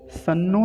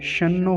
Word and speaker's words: शन्नो: भी उच्चारण होता है सनो नहीं कहेंगे शन्नो होता है कुछ लोग ऐसे उच्चारण करते हैं सनो तो सन्नो यह वाला उच्चारण गलत है यह वाला उच्चारण सही